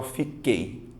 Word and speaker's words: fiquei: um tritongo só que pare e pense e pronuncie você fala fico oi ou você fala fiquei você fala fiquei certo você vai notar que o som do U não aparece ou seja você tem